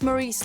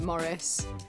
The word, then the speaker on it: Maurice: how many times it's Maurice Maurice how do you pronounce Maurice you pronounce Maurice like this you do not pronounce it Morris Maurice is a intellectual